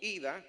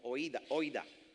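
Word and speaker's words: οἶδα: moderno se pronuncia como ida, en el griego clásico se pronuncia como oida, O-I-D-A, debe estar en la pantalla.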